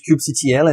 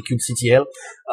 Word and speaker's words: kubectl: In French, when there is an abbreviation, we generally spell out all the letters one by one. So it's ingrained in my brain that I say kubectl. But you might hear that pronounced differently in other sources.